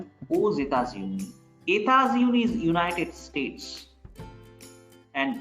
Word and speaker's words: aux États-Unis: Elle habite aux États-Unis. Here X is pronounced as Z because before X it's U, after X it's capital E, like two vowels.